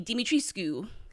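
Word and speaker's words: Dimitrescu: it originated there and in there romania you'd pronounce the the queue so it would be dimitriscu if you're going to say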